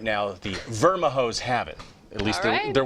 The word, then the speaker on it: Vermijo: Now, I'll tell you, local historians, they don't even have a record of the origin of these words, nor the pronouncer. So right now, the Vermijos have it.